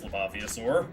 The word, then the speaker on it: Leviosaur: Yes, Laviosaur. Nice. Hold on. Let me look at that word so I can say it properly or at least attempt to. Let's see. Leaviosaur. It is Leviosaur.